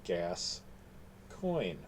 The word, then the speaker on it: Gascoyne: Gascoyne, part of the key to the book is the title is Gascoyne, which is spelled like the region in, somewhat like the region in France, but gas coin.